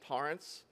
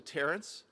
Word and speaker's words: Torrance: that for for lance it is lance torrance as opposed to terrence but i've been trying